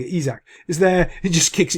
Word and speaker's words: Isak: doesn't realize is um Isaac I can never say his name right Isaac Isaac Isaac that's it I think isak is there it just